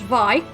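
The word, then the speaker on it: Vay: So next up is um well it's it's spelled V. V A Y, but it's actually pronounced VI, not to be confused with Steve V, the white snake guitarist.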